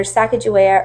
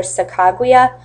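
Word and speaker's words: Sacagawea: exactly who she is you can pronounce her name either sakaa or sakuya depending on what video or what um reading you're doing so I'm going to be pronouncing her name saak Julia just for this U the purpose of this webinar so to continue on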